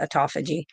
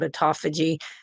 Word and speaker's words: autophagy: they call autophagy um autophagy is what some people I pronounce it autophagy um and that is